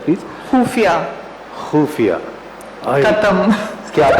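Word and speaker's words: ख़ुफ़िया: खुफिया। खुफिया, खत्म। क्या बात है, खत्म। खाली। आपने खुफिया बोला, मैं तो खत्म हो ही गया।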